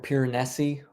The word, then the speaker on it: Piranesi: Besides Piranesi or Piranesi, the proper pronunciation.